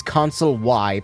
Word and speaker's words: Consul J: You didn't know that the J is silent, so he's Consul Y, plot twist.